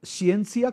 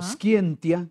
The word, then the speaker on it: scientia: Se puede pronunciar ciencia, como lo pronuncia la Iglesia, o scientia, como lo pronuncia la reconstrucción del latín clásico, y quiere decir conocimiento,